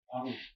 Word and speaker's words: 발우: 발우인데, 그걸 발음하게 되면 바루라고 하죠, 바루. 바루인데 원래는 발우인데 발우.